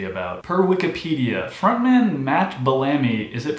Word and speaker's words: Bellamy: Per Wikipedia, frontman Matt Bellamy, is it pronounced Bellamy, said it was spurred by Warner's request for a greatest hits album.